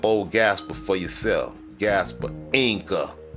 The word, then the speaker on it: Ynga: I just had to bring this about Gaspar Inca, not Yanga. Gaspar Inca. Say it like it is.